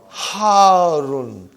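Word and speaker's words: حَارٌّ: Al-labanu harun. Harun. Because the shadda is on ra. So you got to pronounce it properly.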